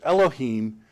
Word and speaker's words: Elohim: the huge grammatical problem with this word it's pronounced elohim and here's the problem and in showing you